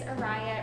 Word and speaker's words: Araya: My name is Araya. It rhymes with Mariah.